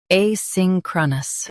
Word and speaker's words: asynchronous: Asynchronous. Both US and UK have the same pronunciation of this word. Stress sync. Keep cra soft, then nus.